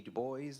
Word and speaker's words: Du Bois: Du Bois, and yes, that's the way you pronounce it.